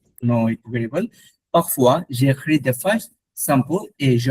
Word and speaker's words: j'écris: Pendant is ওইটা during, উচ্চারণ কি হবে? Parfois je kiss, parfois j'écris, j'écris.